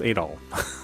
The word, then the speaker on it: Adol: Here, Adol is pronounced Adol.